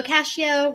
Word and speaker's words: Cascio: to yourself hello um i am cascio rhymes with pistachio in fact they call